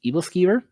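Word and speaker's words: æbleskiver: It's pronounced evilver. Um I'm curious if anyone knows this. If you don't know what evilver is, simply just Google pancake balls.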